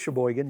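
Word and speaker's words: Chesaning: that what it's called I no it is Shaban oh okay I was like fun name would not be surprised if I butchered it say Shaban three times that's a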